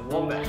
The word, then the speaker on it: wombat: It rhymes with combat. I can think of a lot of things that rhyme with combat. It's a wombat.